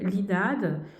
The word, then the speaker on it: INAD: voyance vous pouvez consulter ce qu'on appelle linade qui qui s'écrit I a i n a c'est l'Institut national des